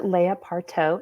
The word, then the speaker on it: Layah: are here today with a new guest speaker Leia parto it's Leia correct want to make sure I'm pronouncing it correctly exactly right yay okay just